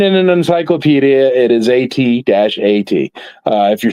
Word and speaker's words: AT-AT: It is AT-AT unless you are telling people what it is. But it's AT-AT if we're talking between each other, like BMW is BMW.